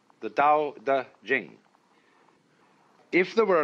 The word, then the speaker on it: Tao: and uh the book is called the Dao de Jane if there were an apostrophe after the T you would pronounce it Tau but if there is no apostrophe you pronounce it Dao because our Scholars made